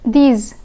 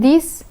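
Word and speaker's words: dix: De and these. De and these. The X in de is silent, but the X in these is pronounced.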